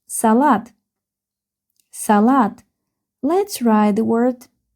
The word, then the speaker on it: салат: because the word has two syllables. Salat.